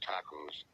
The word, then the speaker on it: tacos: That word is tacos. Instead of the A sound, as in awesome, I say the short A sound, as in cat.